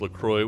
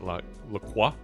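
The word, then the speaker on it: LaCroix: Lroy is pronounced Lacroy, which rhymes with enjoy according to the company. It's a common misconception that it's pronounced with a French accent. Laqua, but I want to call it Laqua.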